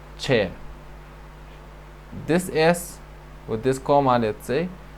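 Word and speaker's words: ç: chair this is chair it's not J it's Che this is with this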